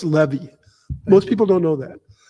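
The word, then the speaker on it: Leavy: Mantle uh yeah and actually your name is pronounced Levy most people don't know that um I've mispronounced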